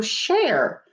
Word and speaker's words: share: They also show share. Share, one syllable, S-H-A-R-E. It has the silent E, makes the A say its name.